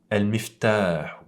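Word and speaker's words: المفتاح: Al-miftahu. Par contre, j'ai allongé la prononciation de cette fatha dû à l'alif qui est suivi à la suite de la lettre qui comporte la fatha.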